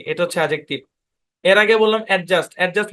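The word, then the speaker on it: adjective: এভাবে বলি আমরা তো এখানে এই যে ডি টা আমরা উচ্চারণ করি কিন্তু ভাই এটা ডি টা সাইলেন্ট এডজেক্টিভ এই শব্দের উচ্চারণ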